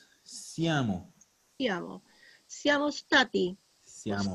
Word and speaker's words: sta: Tratar de no pronunciar esa E fantasma, que muchas veces pasa, que me dicen está.